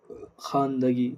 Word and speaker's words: خواندگی: وہ واو جو لکھا جائے مگر نہ پڑھا نہ جائے، جیسے خواب، خواہش، خواہ، خان، دسترخوان، خواندگی، خان، اس میں پڑھنا، اس کی پہچان یہ ہے کہ اس کا تلفظ ادا نہیں کیا جائے گا۔ سمجھ گئے؟